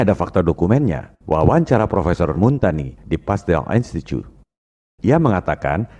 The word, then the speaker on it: Montagnier: Kalau bahasa Prancis, ucapan dan tulisannya memang beda. Bombardier, bacanya Bombardier. Louis Pasteur, bacanya Louis Pasteur. Montagnier, bacanya Montagny.